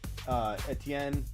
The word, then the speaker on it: Etienne: So stop saying, Smitty, you're saying Etienne wrong. Because he even is okay with this. You might say it a certain way. Etienne, whatever. It's Etienne. This is how we spell it.